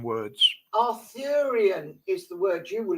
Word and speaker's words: Arthurian: I I do have a problem using words pronouncing words Arthurian is the word you were looking for aruan